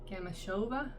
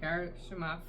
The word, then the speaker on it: Gamashova: at Home by Irina Gamashova. I always pronounce her name wrong. Gamashova. Gamashova. I think I always say Garshimov, but I don't think there's an R in there.